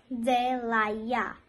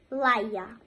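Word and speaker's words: de l'ail: We say it in French, delaya, delaya. If you do not want to say some and you want to say garlic, so you will say laya, laya, or you can say delaya.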